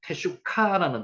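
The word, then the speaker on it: תשוקה: 테슈카라는 단어를 쓸 때 갈망하다는 뜻입니다. 테슈카. 여기서 흐라는 발음은 약하기 때문에 테슈카 흐라고 발음해도 상관없는데 여기는 흐를 일단 뺐습니다.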